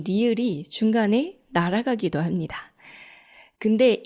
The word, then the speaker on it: 리을: 니은 발음할 때처럼 윗니 뒤쪽에 혀끝이 닿아요. 그렇지만 리을은 좀 더 혀끝을 말아줘야 되죠. 제가 항상 설명을 할 때 리을은 R과 L의 중간입니다 라고 이야기를 하거든요.